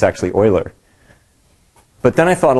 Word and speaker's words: Euler: I thought well that's kind of funny she pronounced Euler as Uhler right it's actually Euler but then I thought a little more about